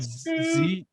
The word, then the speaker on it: Zeuch: It's spelled Zeuch. It's German. Zeuch.